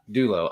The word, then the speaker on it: Dolo: Dolo or Dolo? I say Dolo, but yeah, Dolo is fine. Dulo.